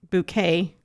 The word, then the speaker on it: Bucket: Um, and we'll get into why we think that, but um, the all-white cast is a character named Hyasin Buck Bouquet, but her last name is spelled bucket, and that's a whole theme throughout the show.